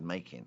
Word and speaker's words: Macon: It's spelt Macon. You see, because of the wine in France is Macon, Macon. But they all said Macon. I said, Macon is Macon, surely. No, no, Macon.